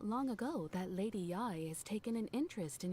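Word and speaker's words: Yae: Lady Yai. Does that mean this whole time I've been saying it wrong? I thought it was Yay. As in Yay Miko. Correct. I guess it's Lady Yai Yai is the Miko.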